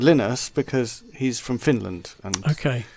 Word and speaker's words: Linus: But his name is spelled how some people would pronounce it, Lionus. Yes. Yes, but he's he's called Linus because he's from Finland and Okay.